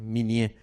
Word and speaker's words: Minié: Ellos tenían unas balas que se llamaban las balas a la minié. M I n i e. Miné, así se escribe.